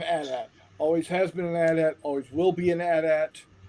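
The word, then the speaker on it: AT-AT: table uh using bigger battles with ats and atsts and yes it is pronounced at at it is not at it is at.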